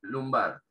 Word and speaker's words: lumbar: Y acá tenemos lumbar, esa U se pronuncia parecido a una A, lumbar, ¿sí?